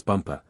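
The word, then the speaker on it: Bumpah: as the Crown Princess bumpa you accent the last syllable and tell me did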